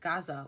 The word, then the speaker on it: Gaza: the more like Americanized Gaza way, or if they're going to pronounce it the Arabic way, which is closer to like Gaza.